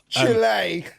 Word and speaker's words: Chile: all of the places right Chile that's how you say it is that's how